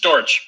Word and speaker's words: Dortch: uh Jim but it's Terry is it pronounced dorch is that how you pronounce it Terry it's dorch D okay is it a German name I'm